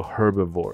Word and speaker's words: herbivore: 或者念作 herbivore，那 H 要不要发音随便你。